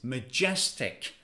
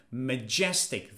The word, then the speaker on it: majestic: tranquil adjective three is majestic pay attention to the pronunciation Majestic the stress is on the second syllable Majestic but what does